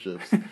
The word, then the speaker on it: GIF: Like, it's actually GIF, but then they just started saying GIF because they saw the world.